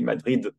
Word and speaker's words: Madrid: And Madrid is pronounced as in English with the D, Madrid.